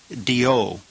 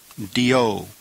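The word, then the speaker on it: διό: Number 26 is a conjunction that means therefore or for this reason, and it's pronounced dio, dio.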